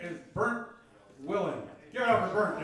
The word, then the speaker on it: Bernd: It's pronounced Bernd.